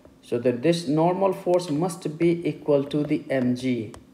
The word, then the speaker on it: mu: force which is equal to MU it is pronounced as mu mu and n is the normal force and